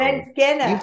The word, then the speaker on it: Mangena: Mangena. All right. Thank you. I always try to make sure I can pronounce people's names.